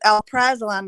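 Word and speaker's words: alprazolam: of this yeah because Al praam is how you pronounce it Al praam is generic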